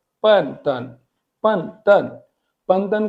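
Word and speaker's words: 笨蛋: उसके बाद आप इस वर्ड को रीड करने की कोशिश करें, आप इसको कर रहे होंगे बन, दन, एक्चुअली ये है पन तन।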